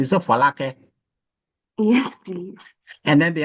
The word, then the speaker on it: Folake: Okay, I'm pronouncing it like English. It's a Folake.